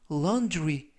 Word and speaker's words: laundry: 이때 유의하실 점은 dr 발음이 drew, 그래서 laundry 라고 발음하시면 좋겠습니다.